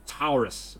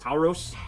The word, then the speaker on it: Tauros: But I was missing the Taurus, or the Taurus. Tauros? It's spelled T-A-U-R-O-S.